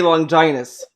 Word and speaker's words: Longinus: One thing is made in America, and they say Longinus. So it's clearly not a translation or dub issue. It's how it's supposed to be pronounced.